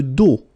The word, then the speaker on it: dos: Le dos. Le dos. Final S not pronounced.